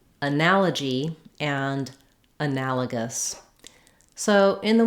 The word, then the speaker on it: analogy: So it can help to practice by starting on that stress syllable, analogy. That's going to really help you get that rhythm and that nice short reduced vowel in that first unstressed syllable.